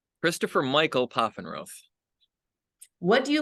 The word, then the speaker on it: Pfaffenroth: That's You tell us, how do you say your name? Pfaffenroth. Pfaffenroth. Yes.